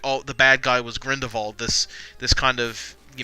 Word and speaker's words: Grindelwald: movie is like oh the bad guy was Grindelwald this this kind of you know grinned evolved its that's how you pronounce it yes my friend of all was